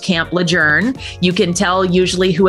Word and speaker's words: Lejeune: of all no one tells you that it's pronounced Camp lejour you can tell usually who has been stationed